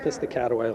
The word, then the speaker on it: Piscataway: Actually pronounced Piscataway, Lenny.